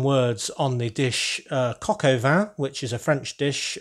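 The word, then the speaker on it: coq au vin: on the dish uh kokova which is a french dish of chicken braised in wine and when pronounced in english at least sounds a bit like van so basically that's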